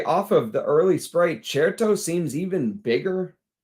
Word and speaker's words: Certo: Hey, it is pronounced Certo. Certo means confident and sure in Italian, and that's what's happening here.